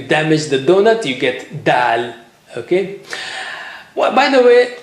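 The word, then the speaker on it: د: How do you say it? The same way like you say ta, but here you have a little bit force. So touch the tip of the tongue to the roots.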